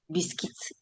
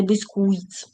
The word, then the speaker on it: biscuits: Подивіться, як читається bisкис. Пишеться B I S CU ITS, а ми читаємо з вами BKITS і не безкуit.